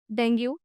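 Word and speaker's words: dengue: डेंगू गलत है, doctors भी डेंगू बोलते हैं। हाँ, हाँ, बोलते हैं? हाँ, बट it's wrong and आई कैन से on screen it is wrong. Right, right. The correct pronunciation is डेंगी, डेंगी, डेंगी।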